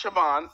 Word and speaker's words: Siobhan: like French okay and it was pronounced Shaban s i b s